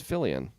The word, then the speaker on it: Fillion: a huge show ABC why did you pronounce it like he's French well Nathan Fillion it's Fillion we got [ __